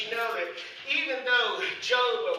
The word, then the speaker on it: Job: And I come to you last week to let you know that even though Job, or Job, the way his name is supposed to be pronounced, is that even though his name represented that, he wouldn't stand for it.